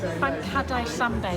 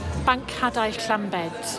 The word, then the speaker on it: Banc hadau Llambed: Banc hadau Llambed. I'll do that again. Banc hadau Llambed.